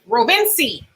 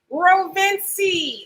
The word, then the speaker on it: Rovinci: And RF, he says it's pronounced Rovinci. Did I get it right? Rovinci. Okay. He says, but Rove is Ruve is okay. So Rovinci.